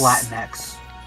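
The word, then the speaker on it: Latinx: Well, wouldn't it be like No, it's pronounced Latin X.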